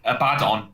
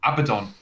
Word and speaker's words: Abaddon: saying it wrong anyway i was calling a bad on abaddon until like a video yeah yeah and i